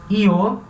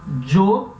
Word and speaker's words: yo: Essa palavra yo pode ser pronunciada, dependendo do lugar, io. Dependendo do lugar, vai se pronunciar jo, que é a pronúncia eu adotei. Eu sempre falo jo. Dependendo do lugar, vai se pronunciar sho, principalmente nos países, principalmente Paraguai e Uruguai, vai se falar sho. Tá? Io é mais comum na Espanha, jo é mais comum no México e em alguns outros